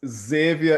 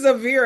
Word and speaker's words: Xavier: So I say to folks, Xavier is pronounced like Xanadu, Right, Xerox, and xylophone. right, right. So it's not even Xavier as I said it.